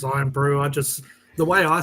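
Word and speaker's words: Irn-Bru: Yeah, the English, the Americans say earn brew. They're like, it's iron brew, not earn brew.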